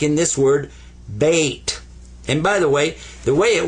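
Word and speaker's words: بيت: This gets a sukoon. What's a sukoon? Sukoon means don't pronounce it, but give it some value anyway. This is bait.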